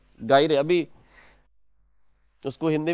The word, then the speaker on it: gyre: हैं, भूत बोलते हैं गायरे, अभी उसको हिंदी में भूत ही बोलते हैं। ये स्पेलिंग होती है GYRE, इसको बोलते हैं ओशियन गायरे।